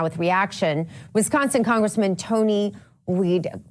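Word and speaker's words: Wied: Joining us now with reaction, Wisconsin Congressman Tony Weed. Do you say Weed or Wide, Congressman? Good morning. It's Weed. Weed. Okay. All right. Well, I think that's the proper, you always take the second vowel, right?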